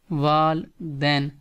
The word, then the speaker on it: والدین: So parents از والدین، first سے wall and then سے دین، والدین۔ In here day is also soft, والدین، والدین مینس پیرنٹس۔